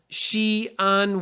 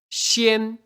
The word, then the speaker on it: Xi'an: uh is like that there's a city in China called Xi'an to write it in English so I'll write it I'll put it on here so you can see what I'm saying she and we write she on with an apostrophe in the middle because if you write it together x i a n that looks like shin or Shin maybe she